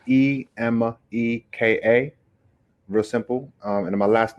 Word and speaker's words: Emeka: It's Emeka, real simple. And my last name is, which is spelled M for Mary, B for boy, A for apple, D for David, IWE.